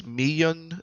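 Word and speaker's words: Miyeon: I'm pretty sure though it is Yun instead of Yun, like Yan. I think it's Miyun and Soyun.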